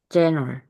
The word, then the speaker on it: general: 그러면 짠을 이렇게 발음된다는 거죠. 해볼까요? 짠을. general.